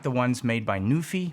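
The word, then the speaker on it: NuPhy: the ones made by newy I think it's pronounced Nui or at least that's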